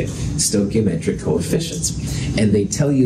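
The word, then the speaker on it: stoichiometric: stochiometric coefficients and you'll you never have to spell it but that's how you say it stochiometric coefficients and they tell you the relative amounts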